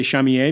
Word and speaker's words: Shamier: Like, so the character, the actor who played the twins, his name is Shamier Anderson, or Chamier, because I say Chamier because he's from Toronto, Ontario.